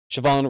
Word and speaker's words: Shavon: Shavon Revel or Shavon Revel, I guess the H is silent.